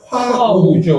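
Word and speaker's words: 和牛: 그렇게 해서 이제 와규 주로 이제 다니시다 보면 와규 스테이크 요새 이제 와규 많아요. 많은데 와규의 정확한 그 말을 보면은 일본소 이제 한자로 쓰면 화우죠. 화우. 이거를 일본식 발음하면 와규가 됩니다.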